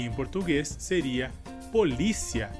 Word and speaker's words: polícia: Nossa próxima palavra seria, em espanhol, policia, e em português seria polícia. Nesse caso, a palavra em espanhol tem a sílaba mais forte como si, e no português a sílaba mais forte seria li.